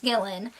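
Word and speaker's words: Gilan: meet halts former apprentice gillan i believe it's pronounced killin his former apprentice we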